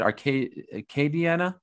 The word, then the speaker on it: Acadiana: How do you pronounce it? Acadiana? Acadiana.